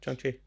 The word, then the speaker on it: Shang-Chi: Or was it Shang-Chi? One of them, did I pronounce that right? Yeah. Shang-Chi.